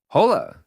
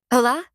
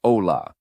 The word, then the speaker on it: hola: Hola. The H is silent in Spanish, so you never pronounce it. Right, so it's not hola with an H sound, it's ola.